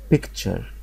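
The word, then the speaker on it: picture: تي يو ار اي تي يو ار اي بتنطق مع بعض نطق واحد اسمه تشر اسمه تشر فالكلمه الاولى اسمها بيكتشر بيكتشر كشر يعني صوره كشر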